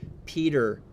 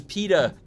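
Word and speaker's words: Peeta: Um I thought uh in the Hunger Games they were pronouncing Peter all funny like oh my god. It was PETA. Peta.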